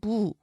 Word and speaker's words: 무: 자, 보면은 무, 김, 뱀, 샘 이런 단어는 지금 준말이 표준어가 되면서 장음이 돼요. 그래서 이름절 단어는 되게 긴 소리로 발음합니다.